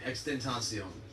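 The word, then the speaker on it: XXXTentacion: to arrest of at triple x den toscion that's how extension uh is how you say it um he was the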